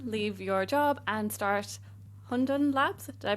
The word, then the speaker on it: Hundun: decided to again leave your job and start Hundon Labs. Did I pronounce that correctly?